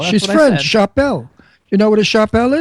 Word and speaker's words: Chappell: There's no R in her last name. Spell her last name. C H A P P E L L. Chappelle. Chappelle. She's French. Chappelle.